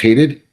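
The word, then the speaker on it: Hadied: H A D I E D and it's it's pronounced hated Hadid.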